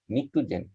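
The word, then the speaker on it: pnictogen: তারপরে হলো নিকটোজেন, উচ্চারণটা পি বাদ দিয়ে করতে হয়, এটাকে বলা আমরা নিকটোজেন।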